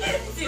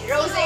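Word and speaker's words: Rosé: yung ano kasi ano kasing pronouncing Rosy Rose Ros Rose Rose pala Rose Rose Rose Ang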